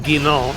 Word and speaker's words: Guinan: Guinan. Guinan. Well That's a good one. That's a good one. Well done, Craigie. It's pronounced Guy. It's Guinan. It's French.